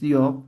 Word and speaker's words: yok: Su pronunciación es yok, pero su indicación a nivel de la estructura de los sufijos es chakra, yok, mama yok, y así, ¿no?